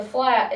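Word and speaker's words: Phlatt: But the flat is spelled P-H-L-A-T-T. Flat.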